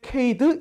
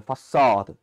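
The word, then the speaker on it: façade: 이제 나름의 발음기호를 조합해서 막 케이드 이렇게 부르거든요 사실요 단어는 그 불어에서 기원된 단어에서 사드라는 단어 파사드 그니까 그래서 아 요런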